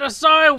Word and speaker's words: Acai: Pero tiempo después, un youtuber de Clone Hero conocido como Asai, sí, se escribe Akai, pero se pronuncia Asai, él mismo lo dice. Oh, but Asai.